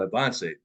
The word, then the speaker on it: Avance: This particular company was called Avance. It's spelled advanced, but it's Avance is how they pronounce it.